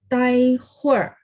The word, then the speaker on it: 待会儿: Ya, Tai ini teman-teman, ya saya baru lihat ya. Tai nada 1 teman-teman. Memang dia ada cara baca nada 4. Boleh bantu saya revisi. Tai nada 1. Tai huer. Ibu boleh ikutin saya. Tai huer. Tai huer. Huer. Jadi H-U-I-R itu dibaca jadi satu ya.